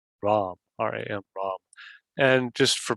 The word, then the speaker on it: Ram: Sort of a long, drawn-out sound. We could probably spell it R-A-H-M or L-A-H-M. And we'll just do it 8 times, so you get the idea. Here we go. Ram, ram, ram, ram, ram, ram, ram, ram.